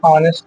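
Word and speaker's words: honest: से ईमानदार की अंग्रेजी ऑनेस्ट, व्यक्ति की अंग्रेजी मैन। अब आप ऑनेस्ट का यस साइलेंट पढ़ते हो, पता है कि नहीं? यस साइलेंट होता है, ओ से स्टार्टिंग होता है, इसलिए एन लगता है।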